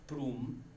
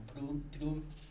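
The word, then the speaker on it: Prüm: hombre llamado Regimo of Prum. Hasta ahí queda mi conocimiento, el más lo pronuncié mal porque debe ser como Prum, tiene diéresis.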